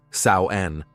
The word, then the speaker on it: Samhain: Long before Christianity, the Celtic peoples of Europe celebrated Samhine, pronounced Saoen, around October 31st to November 1st.